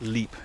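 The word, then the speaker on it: Lepe: running along the Hampshire coast to places like Leep Country Park, which is spelled L-E-P-E, where I saw them many years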